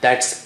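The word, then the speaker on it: ث: How do you say Tha? If this is your top teeth, okay, the upper teeth, this is your upper teeth, and the tongue tip is just a millimeter out, just touch the upper teeth and blow air.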